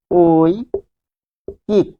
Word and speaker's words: ঐকিক: তাহলে কিরকম, আমরা যদি বলি ঐকিক একটা শব্দ, ঐকিক, তাহলে এটি লিখতে হবে ওই কিক।